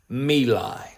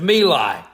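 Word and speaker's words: My Lai: who finally ended and people pronounce it in different ways I will pronounce it as Meli and for my Vietnam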